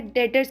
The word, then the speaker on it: debt: हमारा एसेट होता है डेटर्स के नाम से। लिखने में DEBT डेप्ट है लेकिन इसकी प्रोनाउंसिएशन डेट होता है, तो डेटर्स।